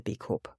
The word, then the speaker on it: B Corp: and just in theide I know lots of English people say B cor with a silent P but B Corp was started in the US where pronounce b Corp with a p and being South African